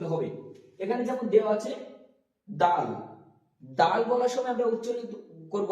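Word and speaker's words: دال: খ হয়ে না যায় এটা হবে খ তারপরে দাল দাল উচ্চারণ করার সময় মনে রাখবো তা যেখান থেকে আমাদের উচ্চারিত হচ্ছিল ঠিক সেখান থেকে দাল উচ্চারিত হবে এখানে যেমন দেয়া আছে দাল দাল বলার সময় আমরা উচ্চিত করব যে জীবটা উপরের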